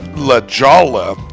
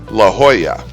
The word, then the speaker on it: La Jolla: The J makes the H sound, and the double L's make the Y sound. So it's not La Jolla, it's La Jolla.